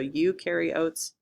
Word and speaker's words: eukaryotes: The two types of cells we're going to talk about are eukaryotes and prokaryotes. Eukaryotes is pronounced like you over there carry the oats to make oatmeal. You carry oats.